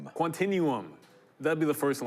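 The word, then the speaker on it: Quantinuum: Quantinum.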